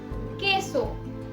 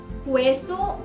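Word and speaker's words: queso: जैसे केसो और कीन से, क्वेसो और क्वीन से नहीं, केसो, कीन से।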